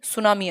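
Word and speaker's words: tsunami: ठीक, टी सुनामी नहीं, सुनामी आई, T silent है।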